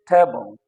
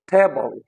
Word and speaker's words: table: The third one is table, table, table. Okay, so these are nouns: water, coffee, table, and the stress is on the first syllable.